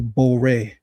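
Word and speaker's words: בורא: In order to get creator, you change the pronunciation to boray.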